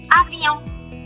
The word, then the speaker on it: avion: A-V-O, because N is silent. Avion.